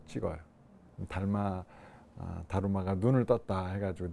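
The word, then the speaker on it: だるま: 일본은 달마, 일본 발음은 다루마. 일본 분들은 이렇게 받침이 안 되잖아요.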